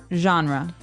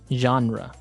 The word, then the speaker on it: genre: pronounced differently we say genre genre or genre this kind of sounds French is it French I think it comes from French uh it's a g word so genre it's a soft soft sound MH and what's a